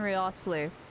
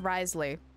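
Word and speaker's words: Wriothesley: I want Nuvalette and Riosly. Or Risley. I keep saying his name wrong. It's Risley. I keep pronouncing the W. There is no W.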